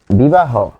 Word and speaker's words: বিবাহ: তাহলে যখন একে লিখব বিবাহ, বিবাহ, এখানে হ হসন্ত যোগ ও।